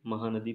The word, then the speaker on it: Mhow: महू क्या है कि महू अंग्रेजों के ज़माने में मिलिट्री छावनी हुआ करता था, ठीक है, तो MH महू ऐसे लिखते हैं, महू W MHOW स्पेलिंग है महू की, ध्यान रखना।